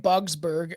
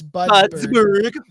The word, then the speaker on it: Budsberg: Oh, I was saying Bugsberg. It's Budsberg. But it's probably closer to Budsberg.